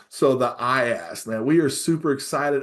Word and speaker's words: IAST: And I always got to make sure that I pronounce that T as well. So the IAST, man, we are super excited about this tool.